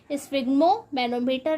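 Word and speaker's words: sphygmomanometer: तो प्यारे बच्चों, सही प्रोनाउंसिएशन तो यही है, स्फिग्मोमैनोमीटर, लेकिन आप दोनों ही अपने दिमाग में याद रखिएगा।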